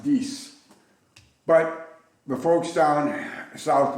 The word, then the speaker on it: dix: French is di X which actually is not pronounced dicks it's pronounced dese but the folks down